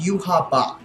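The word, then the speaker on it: Yhwach: It's supposed to be pronounced Yuhaba, but the letters used are, I think, Y, W, A, C, H.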